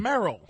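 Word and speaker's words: Merle: way this is Merl because it's m e r l e it's Merl it's Merl about mer name is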